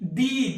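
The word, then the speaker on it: the: है कि याद रखेंगे ये दी उच्चारण कब करोगे तो इसके लिए नियम है नियम क्या है वर्ड स्टार्टस विद व वेल तो वड वट स्टार्टस विथ वल अगर कोई शब्द वल से शुरू होता है अगर कोई शब्द वल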